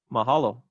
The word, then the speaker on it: mahalo: you should notice uh the differences here the weight difference is that you get but mahalo so the wa attracts maybe we can call it secondary stress or something right so an